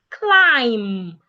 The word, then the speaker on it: climb: Climb. The B is silent.